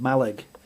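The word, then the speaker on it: Mallaig: So, I was doing a ramble around the edge of Scotland and uh I stopped off in a place called Malle which is spelled Malay and it's just off the southern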